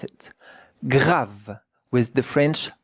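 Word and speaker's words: grave: J A V G R A V E gra. But the E at the end, we don't hear it. And look at how to pronounce it. Grav with the French R.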